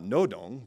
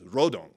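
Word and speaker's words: 로동: real name is not Nodong because that's a South Korean pronunciation, that the real name is Rodong because that's how they'd say it in North Korea.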